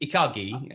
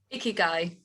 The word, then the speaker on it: ikigai: And is it Ikagi? How do you pronounce it? Ikigai.